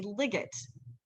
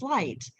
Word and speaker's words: light: letters and the glyph, a student might say ligget. But with the glyph and the grayed out letters, the student knows the word is light.